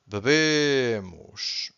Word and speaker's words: bebem: The last one is hard because you have to stress the first syllable, and the last one is weak, not silent, weak and nasal, because we have this ein.